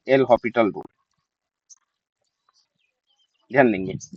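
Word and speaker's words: L'Hôpital: इसको कहते हैं एल हॉस्पिटल रूल। ध्यान देंगे। इसके प्रोनाउंसिएशन में ना ज्यादातर एल हॉस्पिटल ही बोल दिया जाता है। लेकिन एस जो है साइलेंट रहता है। एल हॉस्पिटल रूल ऐसा पढ़ा जाता है।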